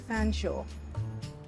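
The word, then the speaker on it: Featherstonehaugh: name was Jane and Shaw is how you pronounce the end of fan Shaw why in the world would you pronounce something spelled feather Stone ha fsha I'm sorry that's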